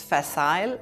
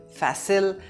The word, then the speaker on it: facile: The British pronounce it as facile and the Americans say facile, so both are correct.